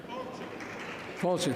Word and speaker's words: fáilte: Fulci, thank you.